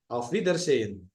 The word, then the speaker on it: Auf Wiedersehen: Auf Wiedersehen.